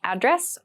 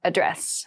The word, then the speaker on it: address: is my home address you might also hear slightly different pronunciations you might hear address or address both are fine so my home address